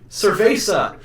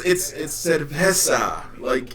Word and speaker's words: cerveza: Cerveza. It's cerveza. It's pronounced slightly differently, and it annoys me.